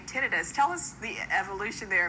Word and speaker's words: tinnitus: you say the other well there's no really right or wrong way to say it some individuals say tenus some say tentis I found most of